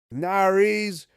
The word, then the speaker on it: nariz: What word rhymes with Paris? Nariz.